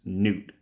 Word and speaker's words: Gnut: new dwarf Champion uh I think his name is pronounced Newt so I'm going to call him Newt I don't know if